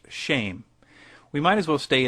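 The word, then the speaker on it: שֵׁם: Hebrew word for name, which is Shem, pronounced shame.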